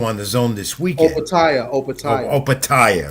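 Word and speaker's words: Opetaia: Opataya, right? Opataya, yeah, he's in my notes here, I made sure to put the pronunciation key right about his name because I never get that right, among many others as well.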